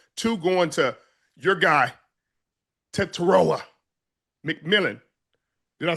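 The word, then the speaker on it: Tetairoa: Bryce Young 17 to 25, 199, three touchdowns, two going to your guy, Teroa McMillan.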